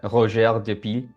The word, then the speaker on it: Roger: butcher his name uh if you just read it like phonetically in English it's Roger the the piles but I think it he was French I think it's uh roer but he basically came